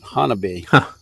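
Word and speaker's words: Honobia: the bfro southeastern oklahoma near hanovia it's spelled but they pronounce it hanabi well you mentioned anyway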